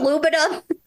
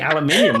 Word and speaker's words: aluminium: aluminium are you saying aluminum well I'm yes but I'm saying aluminium which is how it's said I've heard so many